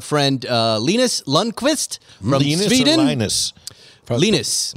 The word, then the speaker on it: Linus: uh lenus lanquist fromus lenus is how he pronounces his name um they're going to